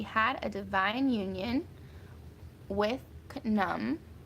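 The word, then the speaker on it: Nun: a dividing union with num I'm gonna say his name that way because some people call him noon some people call him nom some people say num I think it's good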